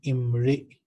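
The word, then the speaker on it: امرئ: So here the word is Imri. We'll pronounce it Imri.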